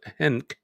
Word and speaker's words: Henk: In the year 2000, Surinamese politician Henk Aaron, not Hank, but Henk, who helped Suriname, I don't know how to pronounce it.